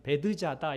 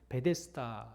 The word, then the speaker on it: 베데스다: 있었습니다 이 베데스다 연못에 번역 에서는 베드 자다 이렇게 에 번역하고 있는데 기록하고 있는데 우리에게 익숙한 바 발음은 베데스다 잖아요 그래서 매 ds 다연